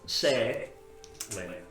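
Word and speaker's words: Saélihn: L I H N pronounced say L.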